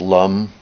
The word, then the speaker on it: lam: the Earth element Islam l-a-m pronounced Lum and actually the m is almost pronounced as an NG so it's almost long when you're doing the bija mantras but the main thing is getting